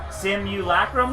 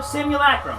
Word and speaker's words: simulacra: you leckrone similar marks yes it's C but you're adding a syllable yeah simulacrum no simulacra simulacra you got it simulation and you remember